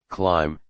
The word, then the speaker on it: climb: B is silent in lamb, climb, thumb.